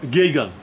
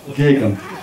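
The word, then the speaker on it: Geoghegan: и вот Питер, который фамилию я не буду произносить. То есть я его знаю лично, но фамилия это... Гейган. Как? Гейган. Окей. Гейган, окей.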